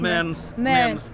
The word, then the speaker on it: Mearns: Mearns. Yeah, take the E out.